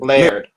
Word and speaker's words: Laird: Is the name Laird, or how do you pronounce the last name? Sure. It's Laird. Okay. Laird.